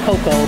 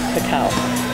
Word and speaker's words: cacao: It was mispronounced as cocoa, but it's actually cacao.